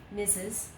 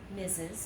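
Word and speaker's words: Mrs.: what do we say we say missus missus I know there's an R in there but we don't pronounce that art missus okay then we have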